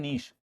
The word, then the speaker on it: niche: में बोलते हैं निकेत, इंग्लिश में बोलते हैं नीश, NICHE। क्या है इसका प्रोनाउंसिएशन, निश। नीचे नहीं है, कभी सोचो।